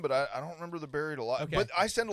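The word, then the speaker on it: Berried Alive: This is a band called Buried Alive, but it's spelled BERRIED, Buried Alive.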